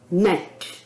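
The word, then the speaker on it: gnat: रहे हैं जी एनटी तो नेट हम इसको नहीं बोलेंगे जी एन ए टी नेट नेट शब्द गलत होगा क्योंकि यहां पर जी साइलेंट है और रूल के अकॉर्डिंग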